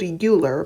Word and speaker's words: Euler: number is named after Leonard Euler I know it's spelled Euler but it's pronounced Euler and this number again